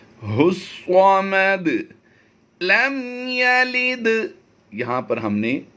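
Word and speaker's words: ٱللَّهُ ٱلصَّمَدُ: अल्लाहु स्वामद, ये अलिफ और लाम दोनों साइलेंट होंगे, इन्हें नहीं पढ़ा जाएगा। हुस्वामद लम यलिद, यहाँ पर हमने कलकला करना है।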